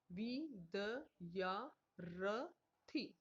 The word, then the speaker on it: विद्यार्थी: के पहले बोला जाएगा, वि द या र थी विद्यार्थी, तो यहाँ पर इसका र का जो उच्चारण होगा वो थी से पहले होगा।